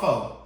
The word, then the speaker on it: faux: because you just told Like, me what about faux? F-A-U-X. When are A, U, and X ever pronounced faux?